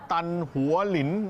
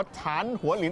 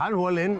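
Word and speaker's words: 昙华林: เป็น โอทา ชื่อ ว่า ถนน ตัน หัวหลิน นะ ฮะ หรือ ว่า ฐาน หัวหลิน ออก เสียง ประมาณ นี้ ฮะ ฐาน หัวหลิน อ่า นะ ครับ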